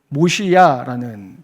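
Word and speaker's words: מוֹשִׁיעַ: 이게 모시야라는 단어입니다. 모시야. 이 단어를 딱 듣는 순간 두 가지가 떠오르셔야 합니다. 모세라는 이름, 그리고 메시아라는 단어가 떠올라야 됩니다.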